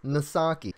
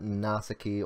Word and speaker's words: Misaki: pronouncing my username incorrectly it's misaki the character's name is not but just like the rapper yeah but he is not you pronounce the S I could see no way wasn't it is original yeah but um it's misaki it's not NASA key or NASA NASA misaki II